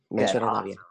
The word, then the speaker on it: Masjid al-Rabia: You're the executive director of, I'm going to mispronounce the name, is it Masjid al-Rabia? Yep, you're good. Masjid al-Rabia.